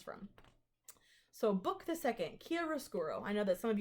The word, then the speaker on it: chiaroscuro: here's how it sounds on Google you ready chiaroscuro quieres kuru chiaroscuro that is the name of